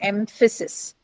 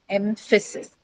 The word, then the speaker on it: emphasis: Then look at the word like emphasis. Emphasis. Now here, what is the case? It appears in the middle of the word, right? So emphasis. You have a, m, f followed by the schwa sound and then sis. Emphasis, right?